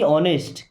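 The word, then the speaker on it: honest: बी ऑनेस्ट, B means होता है होना या रहना या बनो। ऑनेस्ट, ऑनेस्ट का मतलब ईमानदार। यहाँ पे एच साइलेंट है ना, क्या पढ़ते हैं?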